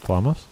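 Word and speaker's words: Flamme: I was saying Flamas. Flama. No S.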